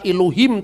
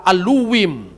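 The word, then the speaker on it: אלוהים: Bukan Bereshit bara Elohim tapi Berashit bara Aluwim.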